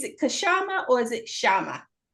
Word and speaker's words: Kshama: they go sha the there's a very slight K but it's totally okay. It's hard for Indians to say you can just call me Shama. Just pretend the gay is silent.